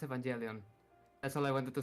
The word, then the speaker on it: Evangelion: Uh, it's pronounced Evangelion. That's all I wanted to say. Evangelion.